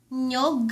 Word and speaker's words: niyog: Niyog. (pronounced nyog) Niyog. Buko. Niyog. Buko. It might be hard to pronounced nyog so you can start by saying you can practice by saying ni-yog Ni yog Ni yog Niyog Niyog Niyog Niyog Buko Next one we have